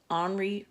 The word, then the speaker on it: Henri: picture based on the artwork of French artist Omri Rousseau Omri is spelled like Henry but in French is pronounced